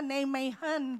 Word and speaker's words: Nijmegen: Saya belajar dulu ini ya bahasa Belanda Nijmegen bacanya.